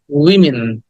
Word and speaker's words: women: না this is উইমেন আমরা এটাকে ওম্যান বলি উইমেন বলি উইমেন উইমেন উইমেন উইন উইমেন ওয়েমেন না উইমেন না ওমেনও না উইমেন উইমেন উইটাকে শর্ট ই বলতে হবে শর্ট উইমেন এমন ভাবে বলতে হবে যে বোঝা যাচ্ছে না পুরোটা হি বলছি কিনা হ্যাঁ উইমেন এন্ড দ্যা নেক্সট